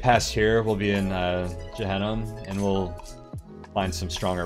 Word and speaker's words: Gehenna: Did you just say Gehenna with a soft G? I did. And you know, I switched back and forth because I don't know how to say it. Is it Gehenna? I hate having to say things aloud that I've like only like read in text for most of my life. Man. It is a hard G.